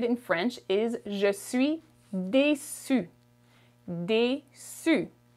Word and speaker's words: déçu: Disappointed in French is je suis déçu. Déçu. It sounds the same for masculine and feminine. Feminine, you simply add an E at the end, but it does not change the pronunciation.